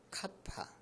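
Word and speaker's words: κ: 이게 알고 보니까 외부 전기장을 카파, 이거 K라고 안 하고 카파라고 읽어주세요. 카파.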